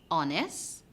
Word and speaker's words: honest: the w is silent hones we have the h sine the g is